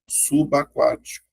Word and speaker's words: subaquático: Sub e a palavra aquático. Tá vendo? Então tem, ó, consoante vogal, ó. Então isso aqui vai formar uma sílaba. E caraca. É, então vai ficar assim, ó. Fica estranho. Fica subaquático.